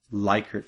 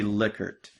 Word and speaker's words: Likert: And the first thing is you might have heard it called Likert scale, which is very common to call it that. But it's actually Likert. So it's pronounced Likert instead of Likert.